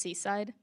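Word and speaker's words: CSIDH: Just to explain this, it's pronounced Seaside crypto system.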